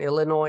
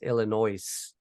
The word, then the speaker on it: Illinois: are silent uh they're the s in Illinois is silent for only half of the us though the other half says Illinois yeah just like the